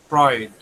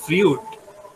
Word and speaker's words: Freud: অসুস্থ বানিয়ে ফেলতে পারে and last name of ফ্রয়েড is pronounce ফ্রয়েড এটা কিন্তু ফিউড না okay it's নট ফ্রিড ইটস ফ্রয়েড alright hello I hope